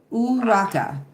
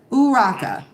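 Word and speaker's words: urraca: Um, I can't roll my Rs like that. I'm not Spanish and I I'm literally tongue tied. Uraka. Uraka. Okay, so I was close. Uraka, which is the Spanish name for Magpie.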